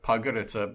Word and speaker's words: Podgorica: I just told you it's pronounced Podgorica, but we would spell it like Podgorica.